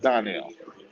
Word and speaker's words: Darnell: It's spelled Darnell, but it's pronounced Donnell.